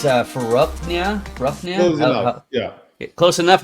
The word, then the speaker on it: Farokhnia: I'm joined today with, and it's Farokhnia. Close enough. Yeah. Close enough. How would you pronounce it? Farokhnia.